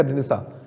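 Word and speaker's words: Renaissance: ठीक है, प्रोनाउंसिएशन क्या है इसका? रेनेसा।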